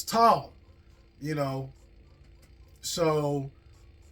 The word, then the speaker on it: Tolle: last name is pronounced tall it looks like tall or toly but it's tall you know so t